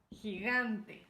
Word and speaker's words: gigante: He, gigante.